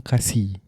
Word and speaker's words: kasih: No, kasih. Oh, different. Oh, yeah, like different pronunciation.